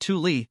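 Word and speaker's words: Thule: abandoned only the base originally called thuli pronounced Tuli Air Base remains in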